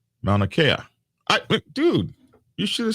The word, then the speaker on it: Mauna Kea: there we go yep just like the mountain on hawaii oh that's how you say it mauna kea dude you should have